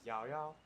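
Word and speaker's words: Yaoyao: to make your acquaintance I like the Chinese pronunciation apparently it's yo-yo but I mean good enough for English voice actor is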